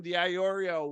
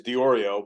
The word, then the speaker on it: DiOrio: J-3 Global badass the iorio welcome to the armchair MBA how you doing today man hey it's a pleasure hey just the pronunciation is diorio but I appreciate the extra eye in there um guys it's uh